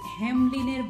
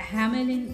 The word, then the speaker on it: Hamelin: the story from and here it says hemline bashiwala i don't know why they have picked up this pronunciation because in bangla a hamelin is more common so i'm going to say hamelin again and again and we must thank